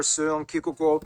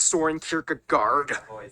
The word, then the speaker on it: Søren Kierkegaard: author Hans Christian Andersen, philosopher Søren Kierkegaard, or Someone Kikuko. whether... That's actually how you pronounce his name. Wow. It's not Soren Kierkegaard.